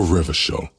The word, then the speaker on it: Revachol: For Revachol, yours, if it doesn't rhyme, you're not pronouncing it right.